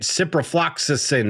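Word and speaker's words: ciprofloxacin: Well, you look at cyprloxisin. Is that it? Cypro. Yeah. Yeah, you said it right. Cyprolaxisin.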